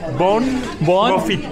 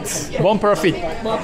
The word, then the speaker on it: bon profit: And in Barcelona you say bon profit. Bon profit. Bon profit. Bon profit.